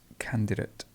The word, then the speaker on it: candidate: have cancel cancel candidate this is a difficult one because people say candidate candidate normally um the schwa would appear here so it's just candidate candidate great capability capability what